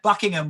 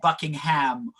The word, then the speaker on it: Buckingham: I would say that as a general rule, Brits tend to swallow syllables, so it's more likely to be epilogue rather than epilogue. You know, we do tend. That's why you get Buckingham rather than Buckingham, or Worcester rather than Worcester.